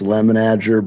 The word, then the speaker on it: Lemenager: I've been saying it wrong all my life. I never correct anybody. It's Lemenager, but you can say whatever you want to say, and you won't hurt my feelings.